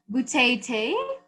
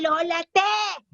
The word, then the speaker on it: Lola Te: Butete? Stop it! Call me Lola Te! Short for!